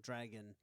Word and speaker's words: Drago: Dragon. Dragon? The Dragon spin-off? I know I pronounced that so Americanized. I'm like, Drago. Drago. It's Drago. Yeah.